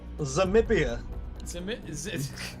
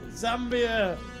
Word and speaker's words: Zambia: I've caught Davies disease where you can't pronounce things. Yeah. Nambia. Burgoyne. Diati. And he's got Zamibia. I nearly fucking said it as well. Zambia.